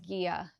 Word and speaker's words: Gigha: And so I cast on the Gigha, I think it's pronounced Gigha tank by Rebecca Clow, the Crayabea.